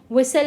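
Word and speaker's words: whistle: L silent हो गया विसल में टी साइलेंट हो गया तो ऐसे ही एक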